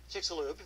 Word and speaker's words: Chicxulub: How do you pronounce that? Chicxulub? Chicxulub, that's right.